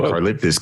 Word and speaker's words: Karlaftis: Karlaftis. Can you lift this?